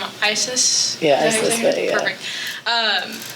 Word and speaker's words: Isis: And correct me if I say her name wrong. Isis?